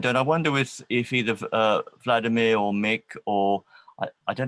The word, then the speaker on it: Vladimir: It's pronounced Vladimir, isn't it? Vladimir? Yes, exactly. Okay. In Slavic form, Vladimir, but in you can say also Vladimir or Valdemar.